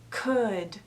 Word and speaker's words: could: So first of all, remember that we don't pronounce the L. Should, could, would.